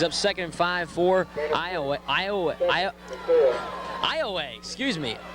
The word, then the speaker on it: Iowa: but it's actually pronounced Iowa. Now it's spelled the same way as Iowa, but it is pronounced Iowa. Correct. Spelled I O W A, but pronounced like you said, like far away, Iowa.